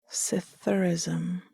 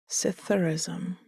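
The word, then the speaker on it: psithurism: Its definition as well as its pronunciation, as it was one of those tricky words that starts with a P, which isn't actually pronounced.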